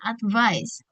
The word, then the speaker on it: advice: Advice ingat kalau misalnya ada V, ada V di tengah dalam bahasa Inggris itu bacanya berat. Advice. Advice bukan advice tapi advis.